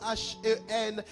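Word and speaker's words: חן: Le mot grâce ici, en hébreu, se prononce H-E-N, hen.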